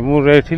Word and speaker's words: मुंरेठी: देखिए मुरैठी लिखा है पर स्पेलिंग में मुन रैठी होता है।